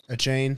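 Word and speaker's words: Achane: name a chain i kept calling him uh a chain that's like how you say it yes that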